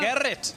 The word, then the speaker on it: Garrett: You just need to roll your R a little bit. Garrett.